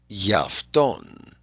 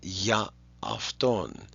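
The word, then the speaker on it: για αυτόν: Yafton for him. And again, instead of pronouncing two alphas, ya afton, usually you'll smush them together into one syllable.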